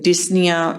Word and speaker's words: dyspnea: But when we say here dyspnea, in dyspnea we don't say P is nea, P is silent.